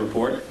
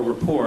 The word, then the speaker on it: Report: Tyson has been a frequent guest on the Colbert Report, or rapport, I guess is the proper pronunciation.